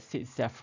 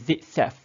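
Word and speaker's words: Zaitsev: Okay, so the product form, okay, we determine by using the Sitzeff rule. Okay, Sitzeff rule dia ada dua ejaan.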